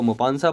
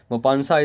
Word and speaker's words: Maupassant: इसको Maupassant पढ़ते, T is silent, N-T is silent, Maupassant is there, right.